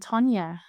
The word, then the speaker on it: Tonya: I'm not supposed to There's no particular Scandinavian pronunciation of Tonya. I bet you there is. Yeah, but Tonya is totally okay.